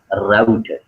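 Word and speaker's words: router: A picture of अ राउटर। राउटर या फिर रूटर, दो नामों से प्रोनाउंस किया जाता है, रूटर भी सही है और राउटर भी सही है, ठीक है।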